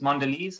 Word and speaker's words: Mondelez: And then lastly, the 25th largest stock is Mondelez. That's how it's pronounced apparently.